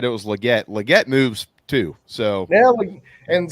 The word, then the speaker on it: Legette: the second and he he says his last name is actually pronounced legat so uh but I